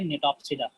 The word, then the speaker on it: Gnetopsida: सो क्या हो गया, जिम्नोस्पर्मी क्लास, साइकेडॉप्सिडा क्लास, कॉनिफेरॉप्सिडा, कॉनिफर्स आएंगे, फिर आएगा क्लास निटेल्स और निटॉप्सिडा, इसको प्रोनाउंस करेंगे निटॉप्सिडा, GNETOPSIDA।